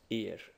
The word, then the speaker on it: ir: letters to it and it's I and it's pronounced ear and what it means is well it means